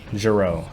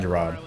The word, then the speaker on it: Giroux: Complete I'm rooting for Aurelian Giroux. Apparently that's how you say it. It's not Gerard.